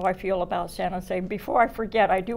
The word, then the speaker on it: San Jose: Then we come to San Jose. And if you've been here for many years, it became, instead of a 1-2 syllable, it became a 2-1 syllable.